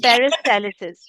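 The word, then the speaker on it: peristalsis: पेरिस्टालिसिस, नहीं पेरिस्टालसिस।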